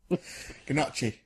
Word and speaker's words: gnocchi: I didn't go away afterwards and learn what gnocchi is. Gnocchi. It's Gnocchi. yeah, pronounced. gnocchi. Gnocchi. Well, let's not do the script as a commentary. Gnocchi's the correct pronunciation.